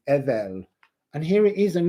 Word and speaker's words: Edel: If you take off this here, you have the energy from Ing, you have Edel, or Odal as it's often pronounced, but in Anglo-Saxon English it's Edel.